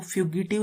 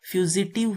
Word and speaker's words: fugitive: ये इसकी जो प्रोनाउंसिएशन है वो फ्यूगिटिव लग रही है, लेकिन इसकी प्रोनाउंसिएशन, करेक्ट प्रोनाउंसिएशन फ्यूजिटिव है, जी की साउंड आएगी।